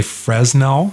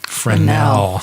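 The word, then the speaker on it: Fresnel: using the the fernell lens some people say Fresno because it spelled FRES anneal but it's pronounced friend now okay anyway so those worked really well and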